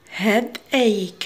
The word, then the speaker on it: headache: The first word headache. Headache. So CH هنات تنطقك. So headache نحطوها في الك.